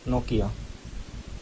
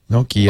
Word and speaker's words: Nokia: Here are 3 different native Finnish speakers pronouncing Nokia. Just so. Nokia. Oh, just like we said it. Nokia. Oh, just like we said it. Sounds exactly right.